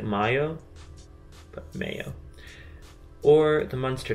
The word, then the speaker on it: Mayo: The two most prominent areas are Connemara and I would say Mayo, like what you put on your sandwich. I'm gonna guess like Mayo, but Mayo.